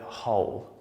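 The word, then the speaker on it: whole: we've got the word hole which means complete which is quite tricky because it's pronounced the same as hole we've got a little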